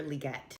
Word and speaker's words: Legette: introduce you to him please meet Xavier liette and I know his name is pronounced that way because I researched it so you might have